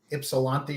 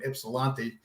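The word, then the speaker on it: Ypsilanti: start off with well ipsilanti or however you pronounce it absolutely do not say gypsy because they do not like that i lived in ann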